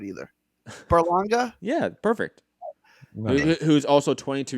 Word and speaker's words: Berlanga: Perla I'm not gonna get that right either Berlanga yeah perfect who's also twenty-two years old you